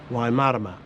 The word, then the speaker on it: Waimārama: however for that meaning to be correct it must have a macron after the first a of Marama so the pronunciation is Waimarama it was central to